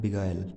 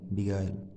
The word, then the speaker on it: beguile: और इसकी सही प्रोनाउंसिएशन है वो है बिगायल, बिगायल।